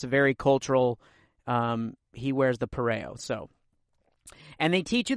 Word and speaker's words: pareo: you the different ways to wear a Polynesian pareo. That's how you pronounce it.